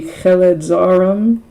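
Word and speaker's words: Kheled-zâram: Dark is the water of Keledzarum, said Gimli. If I were really going to be pronouncing this correctly, it would be Keledzarum, but that's a lot to think about.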